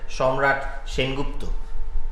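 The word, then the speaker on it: Shamrat Sengupta: you pronounce it yes ideally I pronounce it as shamrat Shen gupto that's nice because very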